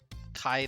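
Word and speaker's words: Chi: squad gaming kai um kai the greek letter c-h-i not cobra kai a little disappointing but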